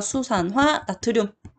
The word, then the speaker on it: 수산화 나트륨: 가장 대표적인 거 OH를 가지고 있는 물질 뭐 있냐면 NaOH라고 쓰고 이거 뭐라고 읽냐면 OH는 아까 수산화였고 Na는 나트륨이니까 수산화 나트륨.